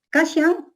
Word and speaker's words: Kashan: Y en tal caso, por ejemplo, en el término Kashan, es hay, Kashan, yo digo como lo pronuncio, Kashan, quechua Cusco Collao. Y quechua chanca es Kashkan.